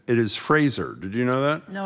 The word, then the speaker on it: Fraser: Fraser, not Frasier.